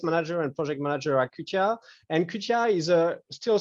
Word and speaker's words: XTIA: So it's a weird Japanese pronunciation of XTIA. So yeah, we call XTIA, and our company is based on the OptoComb technology, or optical frequency comb technology.